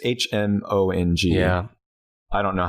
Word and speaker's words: Hmong: Mandarin and, do you pronounce it Hmong? Hmong? It's Hmong.